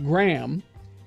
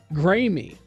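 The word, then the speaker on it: Graeme: hospital named Shady nasty my name is spelled Graham GRA e em e pronounced Graham I constantly have people say grey me really I my life's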